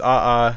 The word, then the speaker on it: aa: It's the word aa, which is pronounced ah a which is like a type of Hawaiian rock or something.